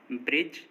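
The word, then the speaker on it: bridge: अगर किसी वर्ड में जी से पहले डी आ रहा है तो डी साइलेंट होगा। जैसे ब्रिज, एज, हेज, वेज, इन सभी वर्ड्स में देखिए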